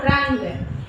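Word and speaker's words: रंग: First you see that what is the letter after dotted letter? Ga. So kakka gaga vadu ing sound. So ra, ing, ga, rang.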